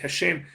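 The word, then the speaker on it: השם: cojo o el judía usted va a encontrar que pronuncian esto así hashém pero no dice que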